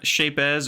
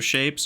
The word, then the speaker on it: Shapez: pronounce the Z. It's satisfying for me for whatever reason.